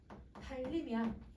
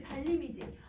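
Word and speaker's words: 달님: 근데 여러분 요거 발음을 하면 얘 어떻게 발음을 해? 달림이야. 그치 달림이지. 그러면 여러분 얘는 따님이라고처럼 니을 탈락이 일어나는 게 아니라 리을하고 여러분 유음이랑 유음이 아닌 애가 만나서 뭐가 됐어요? 유음이 됐어요. 뭐가 일어난 거예요? 유음화가 일어나네요.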